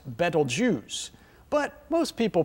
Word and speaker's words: Betelgeuse: armpit of the central one and is correctly pronounced betelgeuse but most people pronounce it beetlejuice so they can remember it because if you